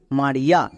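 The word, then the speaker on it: Mariya: যেমন আর একটি নাম দেখো মারিয়া, এই ওয়ার্ডেও আয়ের পাশে ওয়াই আছে, তার মানে এখানেও হস্তিকার সাউন্ড হবে। যেমন এম এ আর আই ওয়াই এ, মারিয়া।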